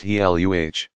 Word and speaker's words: Gila: Two lizards are known to inject venom into their prey, the Gila, pronounced Heluh, monster and the Mexican beaded lizard.